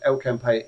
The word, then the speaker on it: El Campello: That's how you pronounce it, folks. El Campello in España.